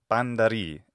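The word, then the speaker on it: πάντα ῥεῖ: One of his famous phrases is panta re, panta ri in modern Greek pronunciation.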